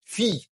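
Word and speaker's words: fille: এরকম থাকলে তখন এল এর উচ্চার হয় না ফি ফি এটার উচ্চারণ কি ফি হ্যাঁ এই যে ফি মানে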